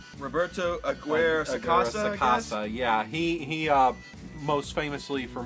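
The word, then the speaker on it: Roberto Aguirre-Sacasa: Robert Sakura, or how do you say that? The writer Sakura Aguirre. Roberto Aguirre Sacasa.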